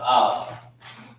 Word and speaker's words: Al: This is how you pronounce it. A-H-L, Al.